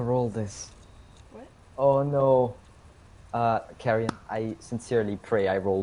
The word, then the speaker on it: Carrion: Carrion, Deliam, is that how you pronounce the name? Yeah.